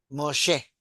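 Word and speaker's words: משה: Moshe, porque la Moshe. G final no se lee.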